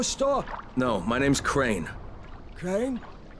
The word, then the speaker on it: Crane: Crane? Crane rhymes with train and brain and sane and grain and rain and plane and the other kind of plane and...